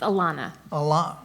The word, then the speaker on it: Ilona: It's Ilona. I'll take anything close. There's an O, not an A.